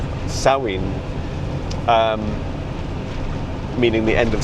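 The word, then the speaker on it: Samhain: And so when so when saw um which is the pronunciation of Sam uh saw sawin um meaning the end of summer.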